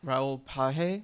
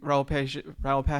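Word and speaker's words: Raoul Pagès: made in collaboration, and I was pronouncing his name wrong, but Raoul Page, I believe. I think that's right.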